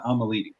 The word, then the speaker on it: Al-Malidi: How do you pronounce it properly? It's Al-Malidi. Al-Malidi, Feta Al-Malidi, and she was an incredible activist.